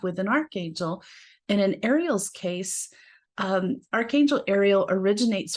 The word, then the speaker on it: Ariel: of god or hearth of god and it's pronounced ariel the origin of the name is the hebrew